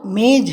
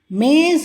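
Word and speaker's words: मेज़: वो मेज है அது மேஜை. क्या वो मेज है, क्या वो मेज है ஜாவிற்கு கீழே புள்ளி வைத்துள்ளது பாருங்கள், அதை ஜா என்று உச்சரிக்க வேண்டும்.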